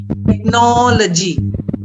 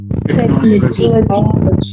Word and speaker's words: technology: all say this word first technology technology not technology technology no stress or not stress on the syllabus before law technology technology biology biology not